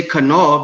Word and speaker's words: Kanal: We say Kanal because we're pronouncing the K, the A, the N, and the A, and the L. Kanal. Ka-anala. Kanal.